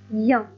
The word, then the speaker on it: ien: Le son IA s'écrit avec les lettres suivantes. I, E, N me donne le son IA. I, E, N se prononce IA.